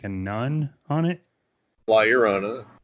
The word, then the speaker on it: La Llorona: I was saying La Lorna, and we even made like a couple of plugs for the shop for the show, and I was pronouncing it La Lorna.